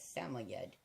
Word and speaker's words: Samoyed: They look a lot like Samoyed, or what's properly pronounced as Samoyed.